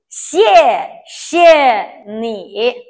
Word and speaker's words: 谢谢: 西, this X we pronounce C I E 耶, 西, 耶, 谢, but the tone is the fourth tone, so we pronounce 谢, 谢.